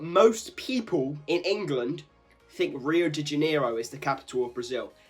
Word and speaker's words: Rio de Janeiro: That's right, it's pronounced Rio de Janeiro, not Rio de Janeiro.